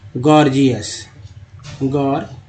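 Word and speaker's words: gorgeous: जैसे गॉर्जियस, पहला जी ग, दूसरा जी जो है ज के रूप में उच्चारण है, गॉर्जियस।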